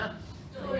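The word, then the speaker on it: 对: แล้ว น ถูก ต้อง พูด ว่า อะไร นะ ตุย ตุย ง่าย ๆ แค่ นี้ เอง จำ ง่าย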